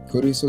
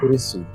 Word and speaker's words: Kurisu: Kurisu is Kurisu. So it actually sounds like a more like Chris, like Kurisu. Chris Kurisu.